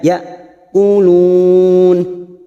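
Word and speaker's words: يقولون: dua harakat ma yaquulun ya Hamzah sukun sifatnya sidah tegas membacanya ya quulun kulun Ada Mad yang bertemu dengan huruf hidup dan dibaca wakaf Mad Arid sukun karena kita wakaf di sini kita panjangkan empat harakat yaquulun lalu kita kembali pada kata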